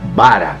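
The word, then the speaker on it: ברא: E aqui vem uma curiosidade no hebraico, que essa palavra criou é pronunciada bara.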